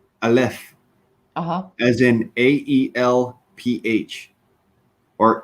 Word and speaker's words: aleph: It's spelled with an A. Oh, all right. Yeah. It's actually spelled and said aleph, Uh-huh.